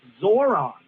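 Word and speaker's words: Zohran: It's Zoron.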